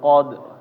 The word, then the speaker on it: Qadr: Fajr Fajr ya Eh inna anzalnahu fi lailatil Qadr Qadr ya jangan Qadr De Qadr ya Nah ini yang keliru Nah ada lagi pertanyaan